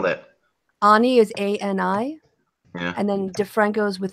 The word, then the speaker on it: Ani: Ani is A-N-I. Yeah. And then DeFranco's with an I. If you start to type it'll come up. Is it German? No. She's American, but it's just pronounced Ani.